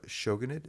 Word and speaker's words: shogunate: Um, in 1867, Japan's Tokugawa shogunate, is it shogunate? Is that how you pronounce that?